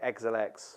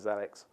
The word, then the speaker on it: Xelix: x e l iix no one knows how to say it um but you can call it what you want some people call it zelix some people say Exel X we call it zelix um and we call